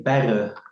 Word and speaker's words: Berre: We say Berre, so Berre.